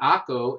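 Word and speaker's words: Acre: 1300s in one city Akko i know spelled a CR e but it's pronounced Saco they had this amazing for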